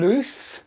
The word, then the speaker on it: loose: kind of way okay lose and loose they sound different and they are different loses the verb loose is